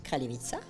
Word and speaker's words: Kraljevica: Et comment vous prononcez Kraljevica? Kraljevica.